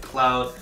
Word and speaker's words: Kloud: name suggests that it's k stands for korean and cloud it rhymes with actual word cloud in the sky that's how they named